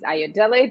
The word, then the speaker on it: Ayodele: y'all nice to be here my name is ayodele thanks gregory and we pronounce that beautifully yes i'm an artist based